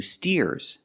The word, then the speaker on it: steer: anymore these are two steers and the steers are helping the farmer steer with a long e sound like beer and clear steer let's practice what